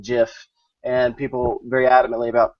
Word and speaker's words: GIF: But the creative that the G stands for graphical insists that it's pronounced GIF. And so the internet is, especially Reddit, is split on this debate. And you have people who are very adamantly about pronouncing it GIF, and people very adamantly about pronouncing it GIF.